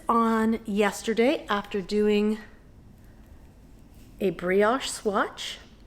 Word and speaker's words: brioche: I cast this on yesterday after doing a brioche swatch. Brioche. I would say brioche, but I think it's brioche.